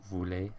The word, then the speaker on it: voulez: Nous and vous are pronounced voulons, voulez, because they're spelled with an OU, but then with il,